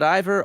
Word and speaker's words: Ivor: You will recall that Ivor almost rhymes with minor, and you're in the mining town, and you can't quite get to who the hell this guy is.